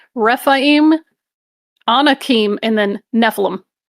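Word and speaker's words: Rephaim: Not Rafaim. Refaim, Anakim, and then Nephilim.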